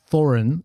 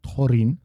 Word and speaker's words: Thorin: So, Thorin, and again, minds, which you did, that is not Thorin that we're saying in Neo-Khuzdul, but Thorin, because there's no th sounds in Neo-Khuzdul.